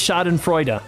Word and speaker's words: Schadenfreude: The first part, Schaden, is pronounced Schaden. Okay, the second part, Freuda. Okay, so together it's Schadenfreude.